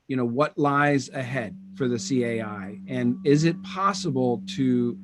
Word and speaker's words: CAI: from our European colleagues, they always call this a kai. But as you know, from Chinese, especially from Chinese language pronunciation, we call this a cai. Cai means dish.